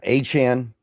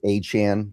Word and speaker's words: Achane: Yeah, Achane. I I think it's I don't know. He changes his pronunciation like every couple months, so I think it's Achane. That's what I've kind of adjusted myself to saying.